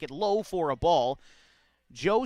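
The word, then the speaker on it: Zhou: Joe spelled Z H O U. Had to get confirmation on that pronunciation, but it's Payton Joe, the catcher for Portland,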